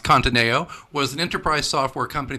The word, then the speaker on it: Conteneo: His last company, I believe it's pronounced Conteneo, was an enterprise software company that helped global companies manage investment portfolios using participatory budgeting.